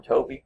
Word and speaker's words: Tobe: She tells Tobe or Toby, since you'll hear it pronounced both ways, to please show these gentlemen out.